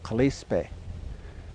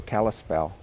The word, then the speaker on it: Kalispel: The Pend d'Oreilles called themselves Kalispe, and that became mispronounced into Kalispel.